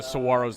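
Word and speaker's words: Saguaros: Yeah, the Saros. The G is silent.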